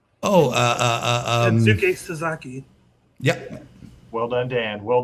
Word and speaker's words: Kensuke Sasaki: Kin Saki. Oh, Kensuke Sasaki.